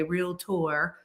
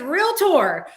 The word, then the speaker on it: realtor: realtor um and yes you have to pronounce it that way real tour um it is not